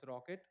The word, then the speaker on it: rkt: a one more runtime called rkt or we pronounce it as rocket so it is also a similar kind of